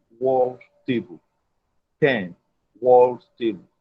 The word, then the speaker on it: Penn: Just go to Penn World Table. Penn World Table. Penn is spelled P-E-N-N. P-E-N-N. That is pen.